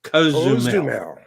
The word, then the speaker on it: Cozumel: So, I think the pronunciation is that they're telling us it's Cozumel.